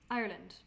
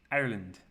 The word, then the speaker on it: Ireland: and her parents that we we say Ireland as two syllables yes and Americans had three so Ireland and they